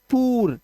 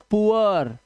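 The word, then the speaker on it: poor: उआ क्या है उआ इट्स नॉट पूर या फिर पुर या पर इट्स पुअर तो उआ की आवाज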